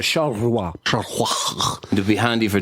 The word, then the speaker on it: Charleroi: Did I say that right, Josh? Charleroi. No. How do you say that? Charleroi.